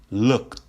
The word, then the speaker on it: looked: This ed has a T sound. That's how you pronounce it, with a T sound. Looked, looked, looked, looked.